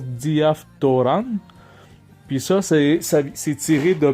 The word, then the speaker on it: διαφθοράν: On a dit, on prononce diaptoran.